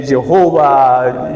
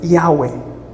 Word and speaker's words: Yahweh: Bom, a pronúncia exata não sabemos, né? Jeová, Javé, mas é Yahweh.